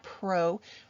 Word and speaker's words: prokaryotic: different so prokaryotic cells we're going to look at Pro rhymes with no so remember that prokaryotic